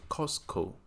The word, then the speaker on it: Costco: 其实读作 Costco，这个 T 不发音。